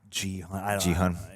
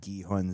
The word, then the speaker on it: Gi-hun: Gi-hun. Yeah, I think when they say it, it's a soft G.